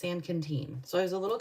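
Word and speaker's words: San Quintín: our second de destination was San Canen and it's spelled s n Qi n t Qi n t i n San Quinton but it's sanen so I was a little confused I was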